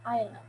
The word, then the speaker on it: island: No decimos island, no pronunciamos la S, es island. ¿Sí? Se escribe, sí, con la S, se escribe island, pero no se pronuncia island, se dice island, island.